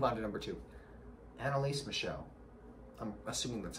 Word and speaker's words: Michel: to number two annelise michelle i'm assuming that's how her last name is pronounced m-i-c-h-e-l i think the french way saying that is michelle so what's up cool